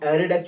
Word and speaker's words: ArrayDeque: एरे W ended queue, pronounce just एरे डेक। ठीक है, DECK। जब DEQ UE होता है तब बोलते हैं हम DQ, और DEQ UE के अंदर उसे कहते हैं डेक।